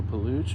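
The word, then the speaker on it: Peluche: This is called a paluch or paluche. I'm not sure how to pronounce that, but it's spelled P E L U C H E.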